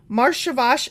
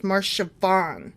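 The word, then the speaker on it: Marcheshvan: Marshavash is sometimes shortened to just Shavan. I mispronounced the first one. It's Marshavan. Okay.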